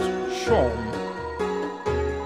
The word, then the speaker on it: Seam: The name's Seam, pronounced Shawm.